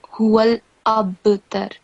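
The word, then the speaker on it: هو الأبتر: You have to stay on lam. So like huwal abtar, not huwal labtar. It's almost as if there is a fatha stroke on lam followed by ba, which is not true, is it? Do you understand what Yeah. I'm trying to say? It won't be labtar, it will be huwal abtar.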